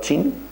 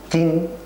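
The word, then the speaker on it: Qin: de China eh emperador chin kin pero se pronuncia chin Parece ser que ese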